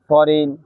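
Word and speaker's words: foreign: শব্দের শেষে আই জিএন থাকলে আইন উচ্চারিত হয়। এক্ষেত্রে জি অনুচ্চারিত থাকে। যেমন ফরেন, rain, রিজাইন, sign, ডিজাইন ইত্যাদি। এই ছিল আজকের পাঁচটি রুলস।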